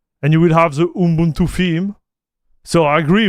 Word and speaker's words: Ubuntu: It's pronounced Ubuntu. Ubuntu. I would say Yubuntu. Yubuntu. Ubuntu. Ubuntu. Oh yeah, you're right. Ubuntu.